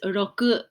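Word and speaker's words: ろく: the next five numbers this number is roku and when you see this shape i want you to think of ah do you know what i'm gonna say can you guess a rock a rock with some grasses or weeds growing next to it so roku is a rock with weeds when you see this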